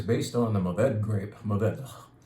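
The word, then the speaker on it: Mourvèdre: Maved. Supposed to gasp that last syllable. You don't actually voice it.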